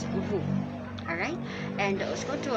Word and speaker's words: vous: Another best example for that is vous, which is a translation of you in French. If you will listen to its pronunciation, it is a silent S. It pronounces as vous.